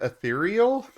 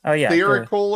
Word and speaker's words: ethereal: Secondly, there is no C or K in the word ethereal. Why did I say ethereal? You were saying a etherical or something like that.